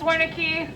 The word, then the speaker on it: Wernicke: So my name is Wernicke. Pronunciation guide is mostly for the kids, but I know it's tricky.